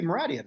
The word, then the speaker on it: Mouradian: Actually, I've always been saying Meridian. Is it It must be Mouradian. I always forget the A. I always put that I in there. So Mouradian is the traditional pronunciation.